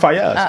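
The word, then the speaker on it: Faiyaz: Brent Fayez. I didn't know that's how you pronounce that. Yeah, Brent Fayez.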